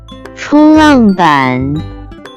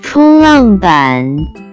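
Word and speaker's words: 冲浪板: Next vocabulary that we have is surfboard, which in Chinese can be pronounced as 冲浪板，冲浪板，冲浪板。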